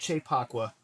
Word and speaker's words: Kyei-Poakwa: moment in a nightclub enjoy chepaqua hopefully I pronounced that right yeah you did nice okay